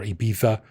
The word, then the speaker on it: Ibiza: And I think if you're in like Daytona Beach, or if you're like in Ibiza or Ibiza, to say it correctly, I think that's probably what most people do.